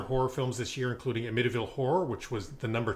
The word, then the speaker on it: Amityville: Olen, unfortunately, it's pronounced Amityville. You are correct.